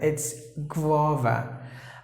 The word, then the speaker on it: guava: orange white seed in it is called guava guava some people may pronounce it like go yeah no don't do that it's guava I like guava some people say that guavas